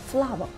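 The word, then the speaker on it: flour: the f l o u r FL no flower flower flower yes practice makes a man perfect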